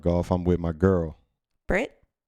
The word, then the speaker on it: Britt: I'm with my girl Brittany, B-Rit. No, What you? I said B-Rit, but it's Yeah, Brit.